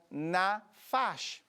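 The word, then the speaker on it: נָפַשׁ: Si también le interesaría conocerlo, este vocablo es el sustantivo del verbo que se pronuncia nafash. O sea que simplemente le cambia la E por la A y entonces pasa de ser un sustantivo a ser un verbo.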